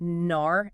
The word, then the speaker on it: nar: The standard entological way to write it is just nar n a r. No apostrophe.